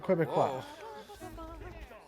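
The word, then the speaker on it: Québécois: The Quebecois. You're hitting the U too hard.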